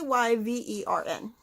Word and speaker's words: Wyvern: Wyvern? It's Wyvern. I can never pronounce it.